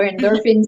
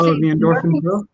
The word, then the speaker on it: Endorphin Pro: I recently became a Saucony endorphin pro or endorphins. How do you say that, Paul? The endorphin pro? Yeah, it's endorphin single and then pro.